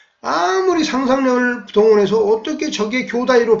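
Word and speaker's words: 兄弟: 근데 일본어로는 이걸 어떻게 발음하느냐? 교다이라고 발음합니다. 이 형제를 교다이. 근데 처음에는 일본어의 발음의 패턴이랄지 그 양식을 몰랐기 때문에 아무리 상상력을 동원해서 어떻게 저게 교다이로 발음되는지 이해를 못하고 도저히 이게 납득이 안 되는 거예요.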